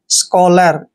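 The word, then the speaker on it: scholar: ओ की मात्रा पढ़ते हैं एल ए का उच्चारण ल करेंगे आर को र पढ़ेंगे स्कॉलर क्या पढ़ते हैं इसको स्कॉलर दोस्तों हमने स्कॉलर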